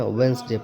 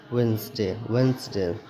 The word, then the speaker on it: Wednesday: WEDNESDAY, यहाँ पे क्या पढ़ते हैं, वेडनेसडे पढ़ते हैं। वेडनेसडे अगर पढ़ते हैं तो वेडनेसडे प्रोनाउंसिएशन का क्या हो जाएगा, रॉन्ग हो जाएगा, तो इसको क्या पढ़ेंगे, वेंसडे, ठीक है।